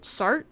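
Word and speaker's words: Sartre: written by Jean Paul sart I believe is how you say his last name and he is a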